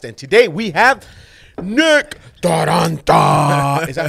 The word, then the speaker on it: Taranta: I mean, I don't add like the rolling R, but I love it.